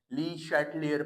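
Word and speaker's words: Le Chatelier: The topic name in द चैप्टर of chemical equilibrium called ली शटलयर principal. कुछ लोग ली शटलयर पढ़ते हैं प्रोनाउंसिएशन इसकी। कुछ लोग ली शटर पढ़ते हैं।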